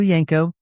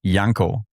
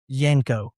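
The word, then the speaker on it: Janko: It's Yanko, like with a J pronounced in a German way.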